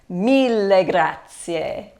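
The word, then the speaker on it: mille grazie: in English me Gracia so remember an Italian it's super important to pronounce all of the vowels there are no silent vowels so when you see vowels at the end of words you always pronounce them okay Mila Grazia my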